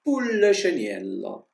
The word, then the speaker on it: Pulleceniello: E quindi piccolo pulcino si pronuncia Pulleceniello.